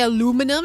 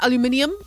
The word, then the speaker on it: aluminium: When you guys say aluminum instead of aluminium. There's an eye. There's an extra eye in it.